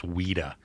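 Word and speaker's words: Ouida: me blow your mind my grandmother's name was weda O UI d a yeah I know right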